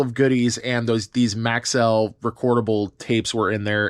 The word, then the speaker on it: Maxell: butter next up are some Maxwell tapes and our Maxell actually Maxell is how they're pronounced uh thank you again